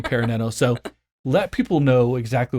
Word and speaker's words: ParaNano: had a conversation about Paran Nano I kept saying it wrong now I'm getting better at saying peran Nano so let people know